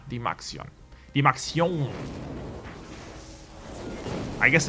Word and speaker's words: DymaxioN: win to the Maxion I keep feeling like I'm saying the name wrong it's D max yo ya the Maxion the max yo I